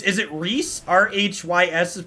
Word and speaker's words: Rhys: in chat said uh it's is it rhys r-h-y-s is pronounced rhys apparently in real life really yeah